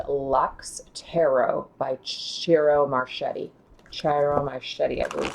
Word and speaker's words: Ciro Marchetti: Ciro Marchetti, I believe is how you say his name.